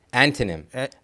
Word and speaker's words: antonym: Anonym means antonym. Uh opposite word. You mean are you supposed to pronounce a T? Antonym. Yes. 100%. Yeah. Yeah. Pronounce the T. No. Yeah. Yeah. Antym.